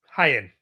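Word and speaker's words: Hyan: So, the the opener was the Sisters of Sin beating Maya World and is it pronounced Hyen? Hyen.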